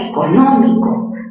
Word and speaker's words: económico: Siguiente, la palabra económico. Mayor fuerza, ¿dónde tiene económico? Económico, en la sílaba no. Última sílaba, co, penúltima mi, antepenúltima no.